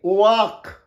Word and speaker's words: wok: WOK তোমরা যেমন W এর পর ও থাকলে উচ্চারণ হয় ও আ, যেমন ওয়ার্ড, ওয়ার্ক ইত্যাদি। এখানে ওয়াডি, WOK ওয়াক, ওয়াক মানে কড়াই, রান্না করে।